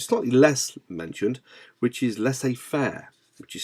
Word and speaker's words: laissez-faire: So we have autocratic in this area, democratic, moving to the other management style, which is slightly less mentioned, which is laissez-faire, which is spelled LAISSEZ FAIRE.